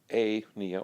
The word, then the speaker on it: apnea: So if pnea, P-N-E-A, means breathing, and the patient has apnea or apnea, is how that's pronounced, then we'd say they're not breathing.